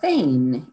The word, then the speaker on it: Fain: in a row so today we have thane and i assume i pronounced that correctly that's correct you're right yeah